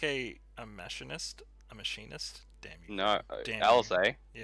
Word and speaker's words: machinist: Because I hear so many people call it mechanist. I'm like, Machinist, you mean?